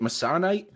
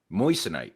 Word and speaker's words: moissanite: cthr right they must am i saying it right massanite i think it's moisture which is moissanite okay so i was completely pronouncing it incorrectly but basically how they